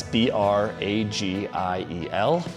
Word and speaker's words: Bragiel: That's B R A G I E L. It's pronounced Bragiel.